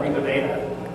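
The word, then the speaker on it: RG Veda: This is the first professional series called Riva Veda. It's spelled RG, but it's pronounced like the Indian legend cycle.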